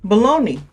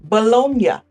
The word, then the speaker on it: Bologna: As an American, US American, I would say baloney. But I'm thinking to myself, there's no way this city is pronounced baloney like the lunch meat.